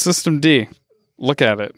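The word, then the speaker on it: systemd: Like System D, used to think it was System MD or System Nina, and then I talked to a Linux person, and they're like, it's System D.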